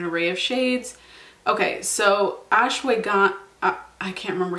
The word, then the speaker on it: ashwagandha: Okay, so ashwagandha, I can't remember how I was supposed to pronounce that.